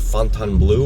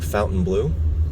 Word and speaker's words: Fontainebleau: So we wait for this light here in front of Fontainebleau or Fontainebleau. I've heard it pronounced both ways.